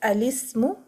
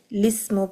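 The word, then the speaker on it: الاسم: a kasra under it, so we can give a fatha to the Hamzatul Wasl and read it as alismu, or completely delete in pronunciation the Hamzatul Wasl and read lismu because the lam has a kasra. So lismu. So two ways to begin from this word. Lismu or alismu.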